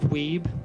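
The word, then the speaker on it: Wiebe: piano music Walter and Billy Steve both finally pronounce Steve's name correctly sorry Steve weeb could you come up here is this Steve wayby yeah they acknowledge him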